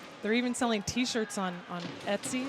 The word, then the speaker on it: Etsy: They're even selling T-shirts on Etsy. Is that how you say it? ETSY? Etsy, yep.